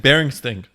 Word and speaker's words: Berenstain: In the show, they said Berenstain.